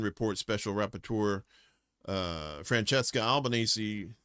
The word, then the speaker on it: Albanese: uh in a 2025 UN report special repur uh Francesca Albanesei I believe that's Albanzy that's how you say her name easy like Sunday morning identified Palunteer technologies founded